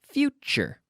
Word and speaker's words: future: everybody everybody everybody futo future future now the TU sound qu pronunciation oh yes that's right pronunciation very important very important here pronunciation is this tu sound is important chu chu tu Chu future remember future mixture Portugal